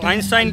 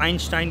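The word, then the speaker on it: Einstein: तो आइंस्टाइन की असल प्रोनाउंसिएशन जो है वो आइंस्टाइन आप कह रहे हैं, आइंस्टाइन है, और ये दो लफ्ज़ हैं। आइन का मतलब एक होता है और स्टाइन का मतलब होता है स्टोन।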